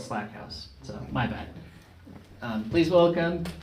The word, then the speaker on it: Slackhouse: You know, you spell it exactly the same as my mother-in-law did, and yeah, she pronounced it Slackhouse, so my bad.